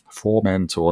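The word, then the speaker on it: Formentor: through this uh cooper for mentor for mentor and apparently that is how you say it because every comment on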